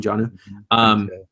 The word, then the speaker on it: Jonnu: tight end, Jonnu Smith, I think is how you would pronounce his first name, Jonnu.